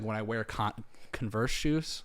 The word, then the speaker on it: Converse: like when I wear Converse shoes like it's just did you say Converse shoes Converse Converse it's spelled Converse it is spelled Converse but it's Converse I'm not going to